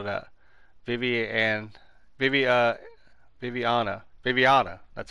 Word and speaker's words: Viviana: Viviana.